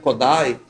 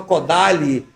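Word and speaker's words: Kodály: que implantou o método Kodai, aqui, né? Eu falo Kodai, porque essa é a pronúncia, húngara. E ele falava Kodai. Quando eu falo Kodali, parece que não...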